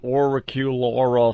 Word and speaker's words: auricular: It's a therapy you can't even pronounce. Auricular therapy.